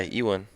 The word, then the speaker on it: Ewan: Isn't Evan McGregor? No, it's a W, man. Is it W? Yeah, Oh, okay. it's like Just go into Ewan.